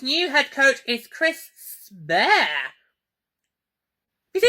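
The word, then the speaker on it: Sparre: Alright, yeah, they spell it S-P-A-R-R-E. So what am I supposed to say? Is it Spare? Sperry? Spar? Or how do you want to pronounce it? Well, Prince Harry says spare.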